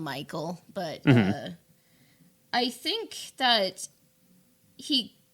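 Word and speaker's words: Mical: is actually the disciple i think his name is pronounced uh mccall i call him michael but i think that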